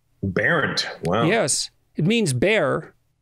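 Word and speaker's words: Bernt: Barent. Barent.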